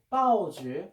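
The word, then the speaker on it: 报纸: 중국 발음으로는 빠오지.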